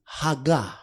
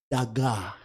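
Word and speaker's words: הגה: that word meditate in Hebrew Mais le verbe méditer en hébreu, is haga. ça veut dire haga. Haga. Haga. Others pronounce it daga.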